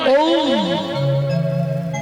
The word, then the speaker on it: ওম: এই যে আমরা একটা শব্দ খুব উচ্চারণ করি, ওম, মন্ত্র বললেই প্রথমেই ওম ওম, যেটাকে আমরা ওম বলি, কথাটা তো ওম নয়, ওম। ও উ ম, ব্রহ্মা বিষ্ণু মহেশ্বর।